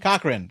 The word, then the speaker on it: Cochran: I don't know how to pronounce that. Is it Rory? Cochran.